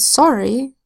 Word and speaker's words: sorry: And sorry, the O makes a short sound, ah, and the R still says So it goes like this. S-A-R-E. Sorry. It still blends.